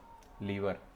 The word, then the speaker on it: lever: लीवर. इसको लीवर नहीं बोलते हैं. जो तुम्हारी बॉडी में लीवर है ना, उसका स्पेलिंग है LIVER. लीवर. और ये LEVER है.